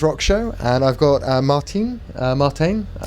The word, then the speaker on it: Martijn: It's Dan from the Mike James Rock Show, and I've got Martijn. Martijn. That's Martijn. the right pronunciation, yes.